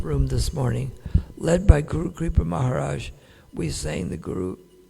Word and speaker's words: guru: to tell him that he was mispronouncing the refrain it is guru not goro. Praa told him go means cow. The spiritual master is not a cow.